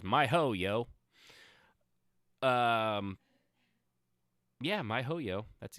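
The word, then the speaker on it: miHoYo: my my ho yo i think that's exactly how it's pronounced it's my ho yo um yeah my hoyo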